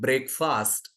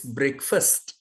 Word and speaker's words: breakfast: breakfast am I right remember it is not breakfast it's breakfast breakfast breakfast if you adjust this pronunciation the listening will be sweet and people